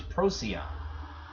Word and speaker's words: Procyon: Evan mentioned before as Procyon and it sounds like an animal robot something rosy on but this is one